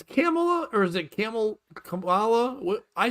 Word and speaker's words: Kamala: Kamala, ba, ba, ba, ba, Kamala, Whenever I start to say her name, I just get out the hard C sound, and then what follows rhymes with bunt.